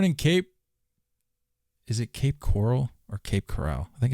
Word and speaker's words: Coral: Is it Cape Coral or Cape Coral? I think it's Cape Coral. It's definitely coral. Yeah. Cape Coral. Born in Cape Coral, Florida. Yeah, I don't know why I said Corral.